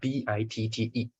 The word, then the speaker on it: Bitte: In German, it would be, oh, wow, how to pronounce it? B-I-T-T-E.